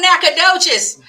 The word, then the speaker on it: Nacogdoches: Sir over there in the corner come on Nacogdoches listen y'all I'm clapping up next that's my